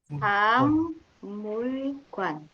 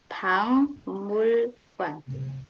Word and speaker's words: 박물관: Museum bahasa Koreanya adalah 박물관, Pangmulkwan. Oke, jadi cara bacanya Pangmulkwan.